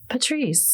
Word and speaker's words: Patrice: Say it one more time. Patrice. There's another role there. Patrice Bergeron, same idea.